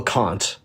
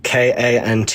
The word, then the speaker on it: Kant: Immanuel Kant. It's a German name, Kant. So yeah, it's Kant. Yeah, but in German they said Kant.